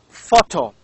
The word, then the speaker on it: photo: the second one is photo begins with ph and this ph also is pronounced as f and of course these